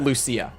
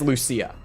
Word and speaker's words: Lucia: the characters in this game say Luchia and some say Lucia which is where we were confused for a while because it's like even in the game they don't seem to know how to pronounce it but we got the best confirmation we possibly could because she herself said her own name out loud and she said Lucia so I think it is Lucia I'm just going with